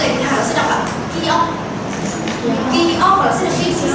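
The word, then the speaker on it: 키읔: Cái đọc trong bảng chữ tiếng Hàn sẽ đọc là Kyok.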